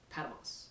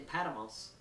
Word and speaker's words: Patmos: It was Patmos, I believe is how it's pronounced.